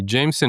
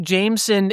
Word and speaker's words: Jameson: They are putting the clear third syllable in there.